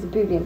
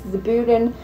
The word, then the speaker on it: Zebulon: Between 1804 and 1930, landlord Zebulon, I think I said it wrong, I keep saying Zebulon, but it's Zebulon Harewell, brewed his own beer on the premises with friend Isaac Cole.